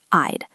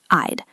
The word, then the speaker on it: I'd: Listen to the sound, I'd, I'd. It is a long I sound followed by a very soft duh sound, I'd.